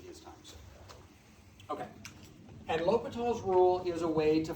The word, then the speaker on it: L'Hôpital: Okay, and so L'Hôpital was, it looks like La Hospital. I know that. It does. It's actually the French word for hospital, so. But it's pronounced L'Hôpital.